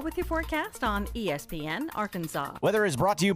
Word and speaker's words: Arkansas: I got that wood, and that's how you pronounce it. Ain't Arkan. It's Arkansas, baby.